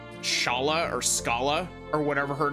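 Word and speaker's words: Schala: Go with Shala. I know that I pronounced it as Scala back in Chrono Trigger, much to a lot of people's dismay. Don't want to pronounce her name like school.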